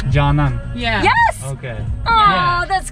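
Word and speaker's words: Canan: teacher yeah our belly her name is pronounced jana but it's spelled c-a-n-a-n jannan yeah yes okay oh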